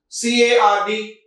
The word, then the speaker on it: card: C-A-R-D, card. Card. Again, R is silent in that, right?